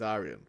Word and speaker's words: Aryan: It's Aryan.